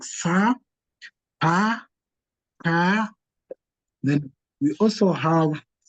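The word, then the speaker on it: paa: That's where we call pa. It's also close to the roofing part. It's called pa. So it's being pronounced as Pa.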